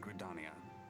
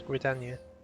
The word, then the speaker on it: Gridania: Yes, Gridania. Not Gridania.